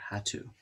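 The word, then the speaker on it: HATU: using a for aza this is h-a-t-u or hattu how to heck to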